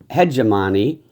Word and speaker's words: hegemony: hegemony. There's a way that the British say it and the way that Americans say it, but I'm going to use the American way.